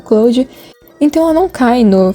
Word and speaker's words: Clawd: Cloud, eu acho que é Clou. É Clou. Eu tava pensando na pronúncia, mas é Clou mesmo.